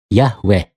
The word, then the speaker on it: Yahweh: Akhirnya mereka menyimpulkan dengan pengucapan Yahweh.